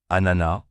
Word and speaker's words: ananas: Attention à la prononciation ananas. Le S final ne se prononce pas.